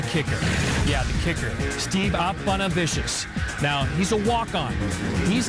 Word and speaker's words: Aponavicius: Again, the name pronounced Steve Aponavicius.